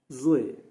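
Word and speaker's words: ظ: Now Zo in Zo you are touching your tongue to the front pallet and producing it from two sides of your mouth. Uh and this is also should be pronounced thickly.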